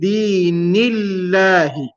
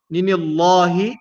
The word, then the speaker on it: دين الله: So we'll say fi dinillahi. Fi dinillahi. Nillahi. Not ninillahi, but dinillahi. In a light manner.